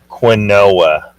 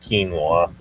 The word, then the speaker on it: quinoa: people, I hear them do it, they'll say quinoa. Quinoa. That's how it's spelled, but it's pronounced quinoa.